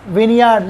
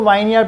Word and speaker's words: vineyard: तो कितने बड़े हमारे पहला विन्यार इसको वाइन यार पढ़ते थे अंगूर की खेती इसके